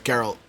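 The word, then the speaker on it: Geralt: of Rivia himself okay so it's girl with a hard G gotcha gotcha girl so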